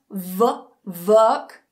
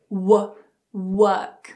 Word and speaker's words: work: So not work, but work. So make sure your lips are very small, very round, and then they get bigger to move on to the vowel sound.